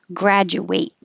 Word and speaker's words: graduate: graduate student and then the ate for the verb actually sounds like eight graduate i will graduate someday